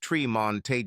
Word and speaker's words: Tremont: Fremont, pronounced Fremonte, and Tremont, pronounced Tremonte Jones.